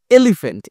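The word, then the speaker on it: elephant: হলো জোরে বলতে হবে যেমন এই এলিফ্যান্ট এলিফ্যান্টের ই টা জোরে বলতে হবে যেমন এলিফ্যান্ট এলিফ্যান্ট তাহলে ই এটা একটু জোরে হচ্ছে আবার এখানে কি হচ্ছে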